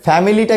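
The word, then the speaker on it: family: আমাদের ফ্যামিলিটা কিন্তু আসলে উচ্চারণটা ফ্যামিলি না, আমরা ফ্যামিলি বলি, কিন্তু উচ্চারণটা হবে না, আমাকে বলতে হবে ফ্যামিলি। ফ্যামিলি ধরতে হবে যে আইটা না, এখানে আইটা নেই, তাহলে ফ্যামিলি।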